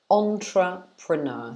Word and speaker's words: entrepreneur: In English, we pronounce this entrepreneur. Entrepreneur. So entrepreneur. So it's 4 syllables. Entrepreneur. Like that. So we stress the beginning of the word.